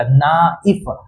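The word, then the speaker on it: knife: यही बोलता है कि अगर के के बगल में एन आ जाए तो के हो जाता है साइलेंट। तो के साइलेंट होने के बाद बच गया एन। तो एन का उच्चारण के तो साइलेंट ही है। एन का उच्चारण न से और आई एफ ई। तो ये क्या हो जाएगा? ना इफ।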